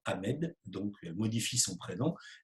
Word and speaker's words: Ahmed: Il répond qu'il s'appelle Ahmed et il prononce le E expiré, comme on le prononce dans sa langue d'origine. Et la professeure lui répond, en France, on ne prononce pas les H, tu t'appelles Ahmed.